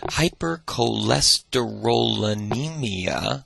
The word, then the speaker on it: hypercholesterolemia: Familial hypercholesterolemia, I think I added an extra syllable there, is an autosomal dominant trait.